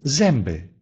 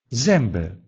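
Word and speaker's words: zęby: Или «зембе», «зембе» – «зубы».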